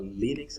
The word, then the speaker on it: Linux: If you are on Linux or Linux, as some people pronounce it, you have sudo npm install npm, all right, and you put G.